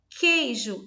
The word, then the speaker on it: queijo: O queijo, tampouco. Eu falo queijo, eu não uso o som do U.